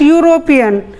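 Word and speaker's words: European: यूरोपियन शुरू हो रहा है ई से, बट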